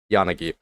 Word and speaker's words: Yanagi: pronounce it so I'm going to try to pronounce it correctly Yanagi um for Yanagi to be honest this one